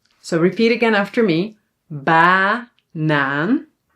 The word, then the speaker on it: banaan: banaan So, the first a is actually an a because it's open. banaan muziek muziek, zomer So, repeat again after me. banaan zomer muziek Very very very good.